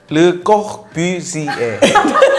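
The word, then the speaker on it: Le Corbusier: 아파트 구조를 만드셨다고 하는 르꼴부지에. 불어 발음 봐라. 르꼬부지에. 꼬부지에.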